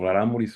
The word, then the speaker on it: Raramuri: Y claro, lo sospechaban porque además cuando los contrataban o cuando un tiempo que intentaron esclavizar Raramuris, Raramuri, porque Raramuri es plural, ¿sí? No se dice raramuris, sino raramuri. Sí, ya nos malacostumbrábamos a decir raramuris.